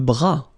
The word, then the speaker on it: bras: Le bras. Le bras. Same thing here. Final S not pronounced.